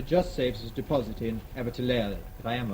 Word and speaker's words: Abertillery: Immediately behind it comes, I can never pronounce this. Abertillery, thank you. I always want to say Abertillery.